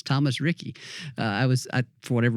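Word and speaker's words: Riecke: his last name Thomas Ricky and he said as in Ricky Bobby and so I can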